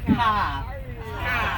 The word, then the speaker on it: car: In Boston, it's a car. See that? There's no R in car.